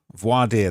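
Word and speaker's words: voir dire: uh pronounced voad vo voad voad voadier that's how it's pronounced voadier um so voadier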